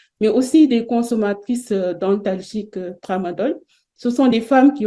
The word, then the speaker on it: tramadol: Alors, le tramadol est appelé tramol par prononciation erronée dans le milieu.